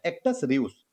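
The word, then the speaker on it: actus reus: Question number third में कह रहा है कि एक्चुअस रियूस, यानी कि एक्चुअस कहिए या एक्टस कह दीजिए, रिवस, इसका हिंदी अर्थ क्या है। एक्टस रियूस, ऐसा इसको सही प्रोनाउंसिएशन हो जाएगा।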